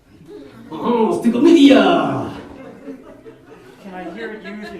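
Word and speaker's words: stichomythia: Oh, stickomythia!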